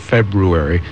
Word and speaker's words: February: right I just say somebody put the r there and you will hear on the morning update each day a true intent to pronounce that R throughout the month of February because it is there you see how hard